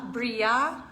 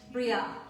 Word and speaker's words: Brillat: Bria Savarin. Yeah. Yeah. Um, Like I hardly pronounce the T. Bria. And any BRILLAT. French person listening is going to go, no.